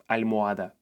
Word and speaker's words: almohada: This is an easy letter to learn in Spanish because in 99% of cases it doesn't make any sound at all. In this case, it's called silent H. Here are some examples. Hamburguesa, hermano, ahora, hacer, almohada.